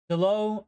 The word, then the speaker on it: Dalot: Dalot rhymes with Merlot.